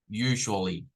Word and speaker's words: usually: como una G repito esto es como una G usually usually eh Qué sería